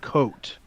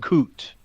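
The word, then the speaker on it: Koot: exchange student from holland her name was k-o-o-t coat not coot so i knew back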